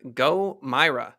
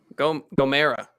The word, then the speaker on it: GoMeyra: that ladies and gentlemen if you are unfamiliar go myra am i pronouncing that right yeah go mara gomera yeah g-o-m-e-y-r-a um if you're sick of having